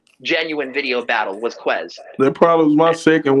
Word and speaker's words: Ques: Is it Kez or Quez? Because I think I've been pronouncing that shit wrong. It's Quez.